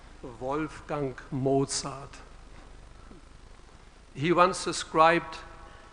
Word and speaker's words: Wolfgang Mozart: I'm from Germany so now you will hear the proper German pronunciation of a wolf dunk Mozart Wolfgang Mozart he once described how